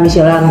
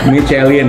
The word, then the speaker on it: Michelin: Enggak, kebetulan kan memang sekarang ada apps-nya Michelin kan.